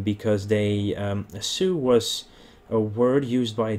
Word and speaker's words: Sioux: sure which one they called them the su s-i-o-u-x and then it's pronounced su and it basically means